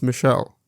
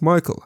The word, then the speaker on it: Michael: adamant it was pronounced Michelle. Mom, bemused, said something along the lines of, "It's literally a name from the Bible. It's pronounced Michael and has been for thousands of years."